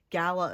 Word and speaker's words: gala: It depends on how you pronounce it. Gayla or Gala event. I don't know if it's like geographical differences or just like how some people prefer. But whatever you like want to pronounce it. It's Gala or Gayla.